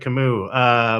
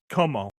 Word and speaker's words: Camus: Represent Camus. But like, no, yeah, I mean, thank you, but it's pronounced como.